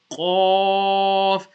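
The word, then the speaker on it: ق: famous Thalia letter o now off is going to be pronounced from the top of the throat yeah so Connie the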